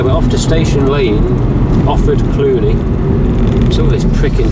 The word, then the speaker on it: Offord: So O-F-F-O-R-D, Offord, not Oxford, Offord Cluny.